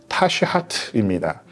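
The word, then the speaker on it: תשחת: 그리고 다스은요 실제로 히브리어적 어 발음으로 따지면 타시하트입니다.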